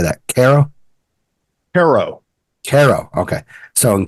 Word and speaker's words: Cairo: that again Tad how do you say that Caro Caro Caro okay so in Caro that would